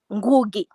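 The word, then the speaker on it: Ngũgĩ: How do you pronounce the name? Ngugi? Ngugi. Ngugi. Uh-huh. No, Ngugi. Ngugi.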